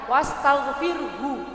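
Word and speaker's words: واستغفر: kecil ya Bu ya Nah bedakan dengan wastagfir wastagfir nah gitu bu ya karena ada h-nya kan wastagfirhu kan gitu Bu tulisannya kan wastagfirhu karena Ibu wakaf berhenti jadi wastagfir 1 2 3 astagfir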